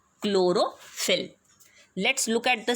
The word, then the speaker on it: chlorophyll: of a substance called chlorophyll. Let's look at the spelling and the pronunciation. Here H is silent, okay?